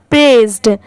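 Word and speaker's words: pressed: ए आई एस ई अगर सिर्फ इतना होता तो इसे प्रेस पढ़ेंगे और ईडी या डी लगने की वजह से क्या हो जाएगा प्रेस्ड ठीक है प्रेस्ड ये है बिरबल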